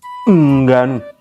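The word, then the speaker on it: Ngannou: faites l'effort quand même c'est Francis Nganou le N n'est pas prononcé c'est genre voilà bref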